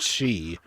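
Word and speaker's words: sídhe: are sid he her where sid he pronounced she is the irish word for the fairy folk oh dear god she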